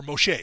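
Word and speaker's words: משה: Or Moshe. If we're going to call Jesus Yeshua, we're going to call Moses Moshe, because that's how you say it in Hebrew.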